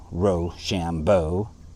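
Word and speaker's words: Rochambeau: our watch word was Ro Shambo the commander of the French forces a good watch word for being pronounced R Shambo it sounded when pronounced quick like Rush on boys we had not Lin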